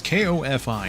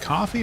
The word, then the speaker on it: Ko-fi: How is that website pronounced anyway? It's K-O-F-I. Is it coffee or Ko-fi?